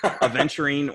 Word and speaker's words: Aventurine: So, how do you pronounce this color here? Aventurine orange.